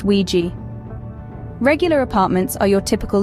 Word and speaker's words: WG: as locals call them wgs pronounced Ouiji regular apartments are your